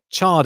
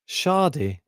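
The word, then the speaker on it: Chardy: empty i'm van saying chad is pronounced shardy and there's 30 or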